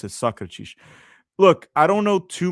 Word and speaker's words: Sócrates: That's how you pronounce it, Sócrates.